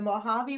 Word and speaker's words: Mojave: It's pronounced Mojave.